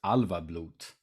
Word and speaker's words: Álfablót: The way I would be pronouncing it is Álfablót, which is the Swedish pronunciation.